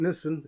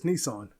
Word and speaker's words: Nissan: You're pronouncing it wrong. You always have been. Nissan, it's not Nissen. It's Nissan.